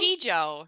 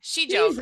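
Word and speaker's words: sijo: Shijo, Shijo.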